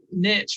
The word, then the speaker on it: niche: years ago there's a reason niche rhymes with rich and that always stuck